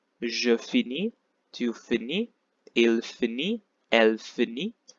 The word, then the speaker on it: finit: Je finis, tu finis, il finit, elle finit. S, S, and T are silent, so you will find that these three are pronounced the same way.